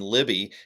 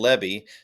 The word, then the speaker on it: Lebby: I get going talking quickly, and I was pronouncing his name Libby, and it's Yeah. Lebby.